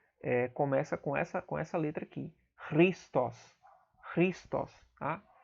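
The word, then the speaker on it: Χριστός: Christos. Christos. Tá? É um som bem difícil de produzir, tá? Porque é um gutural. É um som que é produzido aqui na garganta.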